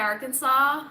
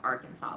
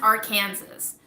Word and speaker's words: Arkansas: how you properly pronounce Arkansas. But it literally does not make sense, okay? It should be pronounced Arkansas, because we have a state called Kansas, and it's pronounced Kansas.